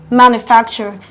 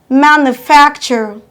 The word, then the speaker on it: manufacture: in from the back one two your stress falls on the second syllable in the word manufacture so we have manufacture manufacturer stressing your fact louder than other syllables of the same word number four nouns adjectives